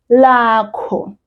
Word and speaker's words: lakho: And then the last word in the question is lakho. Earlier, I said. I was talking about my name. Now I've changed. That last syllable has changed. It's now KHO and no longer MI.